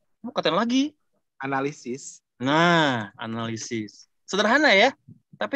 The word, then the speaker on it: analisis: Terus pernah saya bilang lagi, analisa. Katain lagi. Analisis.